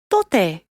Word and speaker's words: tote: The T is a bit softer than in English. Try putting your tongue between your teeth when saying it. Tote, which means salt.